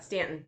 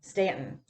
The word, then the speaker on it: Staunton: ice cream parlor and Staunton Virginia Stanton Stanton it's not starting it's got a you and your SCV's it is okay so a little bit about the story before we go into it Stanton is the town that